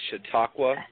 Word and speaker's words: Chautauqua: And how do you pronounce Chautauqua? Is that right? Chautauqua County? Well, that's close. It's Chautauqua County, but that's actually like a Indian.